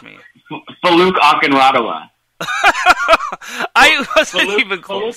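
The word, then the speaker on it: Folake Akinradewo: Faluke Akinreduo Gunderson. Did I pronounce it right, or feel free to correct me? Faluke Akinradawa.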